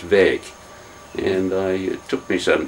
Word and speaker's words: Wijk: and I pedantically articulate the Dutch phoneme W-I-J-K is pronounced VAG, and it took me some time to be able to do it.